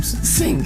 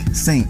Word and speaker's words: Singh: Singh. Singh.